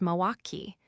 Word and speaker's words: Milwaukee: Then you know better than anyone it's pronounced moaki. The L is silent.